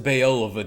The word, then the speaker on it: Beoulve: It's pronounced Beoulve the sons.